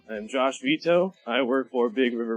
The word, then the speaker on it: Vitoux: listeners all right so my last name is pronounced veto I'm Josh veto I work for Big